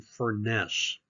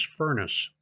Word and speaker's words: Furness: pronounce this family name Furness, but the way to remember it is Furness is that Frank Furness was a redhead with a fiery temper, and he considered himself the fiery furnace.